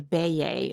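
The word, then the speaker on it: Beje: house that they nicknamed called the Bea. It's spelled B E J E.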